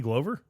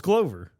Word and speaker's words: Glover: Are you talking about Danny Glover? Yeah. Well, it's Glover.